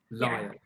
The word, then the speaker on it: Lisle: do you say your last name lyle lyle okay you saw the first one that's like saturday morning i only woke up half an hour ago okay so we have the amazing lyle with us i first met um on